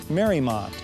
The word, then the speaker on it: Mariemont: by the architectural community as the national exemplar Mary Maude is pronounced Mary Maude and was named after Mary Emery's estate in